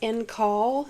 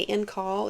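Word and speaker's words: en caul: And I looked up how to pronounce it, right? But it's in call. Some people say in call. It's E-N and then C-A-U-L, which basically means it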